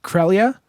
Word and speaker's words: Creglia: So my last name is pronounced Creglia, but it's spelled Creglia. Yeah, so it's not Creglia.